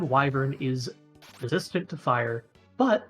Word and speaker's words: wyvern: the twin head WIP I said wyin previous viously that is not the correct pronunciation the twin head wyvern is resistant to fire